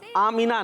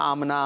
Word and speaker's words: आमीना: और लिखा हुआ क्या आया है? आमना, मीम साकिन। ये दुरुस्त नहीं है। बाद लोग बोल रहे होते हैं आमना आमना, तो आमीना आमना दुरुस्त नहीं है, बल्कि दुरुस्त क्या है? मीना। सही दिखा है भाई। मीम के नीचे क्या आ गया? जेर। तो दुरुस्त है आमीना।